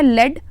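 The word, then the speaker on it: lead: कहते हैं लेट तो इसका प्रनंसीएशन है लेड और इसका होता है लीड स्पेलिंग सेम है लेकिन प्रनंसीएशन अलग है तो इसे हम कहते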